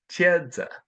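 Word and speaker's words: 茄子: something like CH and in China they say eggplant which is pronounced chedza and finally in Korea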